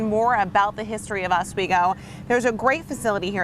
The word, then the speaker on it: Oswego: now asigo is pronounced asigo although the locals if you kind of talk to them quick it's more like swego swego swo that's pretty